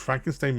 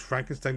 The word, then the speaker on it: Frankenstein: So Gene Wilder plays the new Frankenstein now, who does not like when his name's pronounced Frankenstein. It's Frankenstein, not Frankenstein, and Frankenstein.